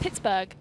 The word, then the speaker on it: Pittsburgh: two huh pittsburgh knights it's burr why are you saying i like you from bristol it's pittsburgh it's but oh no